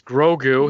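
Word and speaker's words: Grogu: what is the pronunciation of said character's name grou what grou I thought that was Yoda it's baby Yoda it's grou his name is grou child then how does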